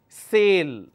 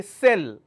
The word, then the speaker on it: sale: could talk about is sale this a sound sale pronunciation sir a love sale alright instead of saying sale if I say sell it will become a different word sale is a verb